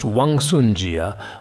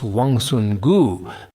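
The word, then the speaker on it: 王孙贾: Some people say it's pronounced Wangsun Jia, while others say it's Wangsun Gu. This is a polyphonic character. I've noticed that many people pronounce it differently. You can pronounce it however you like. The Jia in Jia Baoyu can also be used, or like in merchant, Shangjia, right? How do I pronounce it? I pronounce it as Jia.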